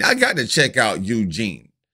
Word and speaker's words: Youjeen: so fire that that Eugene I got to check out Eugene I think I'm pronouncing it right it's y-o-u that's you then j-e-e and that's Gene right I got to check